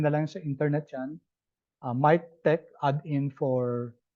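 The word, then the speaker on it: MiKTeX: MyTech add-in for R. Tapos sa Mac naman, MacTech. I don't know why they pronounce it as tech, although it's letter X.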